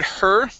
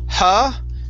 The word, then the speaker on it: her: Let's go to the word her. Okay, instead of huh, okay, curve your tongue up to pronounce the R.